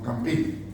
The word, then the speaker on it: Campin: pintor Van der Weyden era discípulo de Robert Campin, o Campin, según queramos pronunciar.